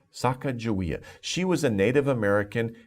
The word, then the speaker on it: Sacagawea: When the first time I saw this name, I was like, oh my gosh, how do you pronounce that? But it's Sacagawea. Sacagawea.